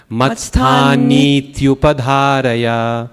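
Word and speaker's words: मत्स्थानीत्युपधारय: That last line, matsthanit, it's not a short I, it's a long one. Matsthanithyupadharaya.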